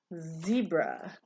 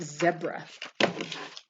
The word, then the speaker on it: zebra: word is zebra zebra do you know that in england they pronounce it zebra because i read lots of engl i read lots of books about england and i watch shows about england and they say zebra i think it's funny